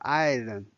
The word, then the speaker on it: 爱人: And the next one is 爱人 or 爱人. There's no tone symbol here. 爱人.